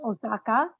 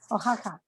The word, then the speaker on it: Oaxaca: Originally created in the state of Osaka. Is it Osaka? Is that how you pronounce it? Oaxaca. Oaxaca.